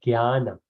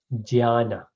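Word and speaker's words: ज्ञान: So knowledge is called jnana, or it's actually called jnana, from ja in Sanskrit. But somewhere during the process we changed it to G, so we pronounce it jnana. The Sanskrit scholars, which I am not, they pronounce it jnana. So we call it yagya, they call it jagya.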